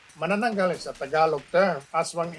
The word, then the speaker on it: manananggal: comments have been about how we've mispronounced some of the names like manangal or manangal but you know we